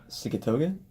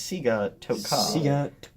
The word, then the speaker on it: Sigatoka: Cigatoga? Yeah, I think you guys are pronouncing it Cigatoga? wrong. I think it's Cigatoga. Sigatoga. Sigatoga. No, it's Sigatoka.